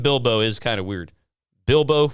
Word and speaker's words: Bilbo: Bilbo rhymes with dildo.